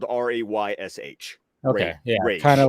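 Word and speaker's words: Ra's: Like pretty much just Raish. Raish. Yeah. I pronounce it like it's spelled Raysh.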